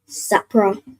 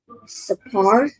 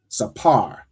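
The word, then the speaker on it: ספר: So not not sapra but that last part. So sa and then the p and ra are joined. All right. So what sound would that make with the p and the rad joined?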